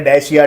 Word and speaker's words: Dacia: को अब देखिए, आप DACIA को किस तरीके से प्रोनाउंस करना चाहते हो आपके ऊपर है, डैशिया डाकिया जो आपको बोलना है।